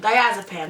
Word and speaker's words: diazepam: he have Arthur Hughes diazepam diazepam that's how you pronounce it died as a pin what is his job